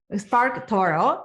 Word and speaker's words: SparkToro: say it right so spark toro yeah spark toro the torah like in spanish and yeah you're gonna